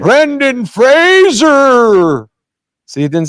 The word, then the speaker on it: Fraser: I'm gonna say Frasier anyway let me say Frasier but I don't want to nobody's ever got my name Brendon Fraser see it didn't sound right it felt good